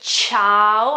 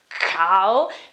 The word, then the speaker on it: ciao: use G and I when I say ciao I don't say cow because if there is